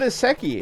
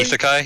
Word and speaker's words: isekai: And it's also an iseki, isn't it? Technically isekai. Yes. Yeah. Is isekai. I never say that right.